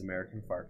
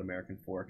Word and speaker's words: American Fork: My favorite, I think my favorite's American Fark, though. They don't call it American Fork unless you're not from there. Mm-hmm. And it's American Fark.